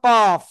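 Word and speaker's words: قاف: করেন এটার নাম হলো কফ কি কফ চার আলিফ টান জিহ্বার গোড়া তার বরাবর উপরে তালুর সাথে লাগিয়ে জিহ্বার গোড়া তার বরাবর উপরে তালুর সাথে লাগিয়ে কফ এরকম মোটা আওয়াজে কাফ জিহ্বার গোড়া তার বরাবর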